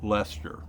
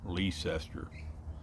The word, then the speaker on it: Leicester: they're outside a little town called Lester or Leicester up there it rhymes with chester as in wait a minute Chester